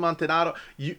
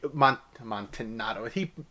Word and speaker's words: Amontillado: So that's a whole big thing so the cask of Amontillado, Amontillado, I'm pretty sure he mispronounced that. Maybe I've been mispronouncing it. I'm pretty sure it's Amontillado. I think he just did that to go and to kind of make it go and to make it rhyme.